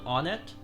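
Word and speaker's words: Onett: stupid it's actually because I've always pronounced it on it so pronounce it whatever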